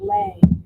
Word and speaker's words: Lay: I'm here saying your name wrong. It's Lay.